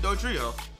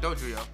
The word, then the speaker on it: Dodrio: Of course, is Doduo and Dodrio. Or Dodrio.